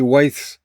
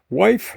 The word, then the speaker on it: wythe: How many wythes? Sound like you have a speech impediment when you say it, but how many wythes does this wall have? Wife? No, wythe. TH. Okay, so WYTHE.